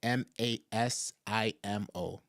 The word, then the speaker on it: Masimo: already what is what is the name please pronounce the name of of uh the Met tech company is called masimo m a i m o maimo they were also going to have a